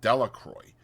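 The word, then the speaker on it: Delacroix: Jones and Dicky delacroy the villagers pronounced this name delacroy eventually made a great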